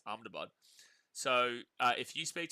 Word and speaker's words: Ahmedabad: It's also not pronounced Ahmedabad, it's Amabad.